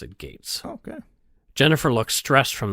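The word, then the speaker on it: Getz: some people might pronounce it grits but he pronounced it Gates okay Jennifer looked stressed from the beginning again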